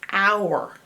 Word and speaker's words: hour: But if you stick an H on it, it becomes the time hour.